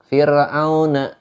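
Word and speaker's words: فرعون: Beda ketika kita baca kalimat fir'auna, ro-nya itu tipis.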